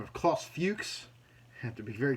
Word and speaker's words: Klaus Fuchs: that was a fellow by the name of Klaus Fuchs. I have to be very careful to pronounce that name properly. It's a terrifying one to say at all ages thing. But Klaus Fuchs was another one of these scientists who was